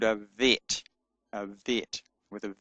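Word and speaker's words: ב: But when it does not have a dot in it, it is uh pronounced with a soft sound v as in vine. And so the bet is called a vet.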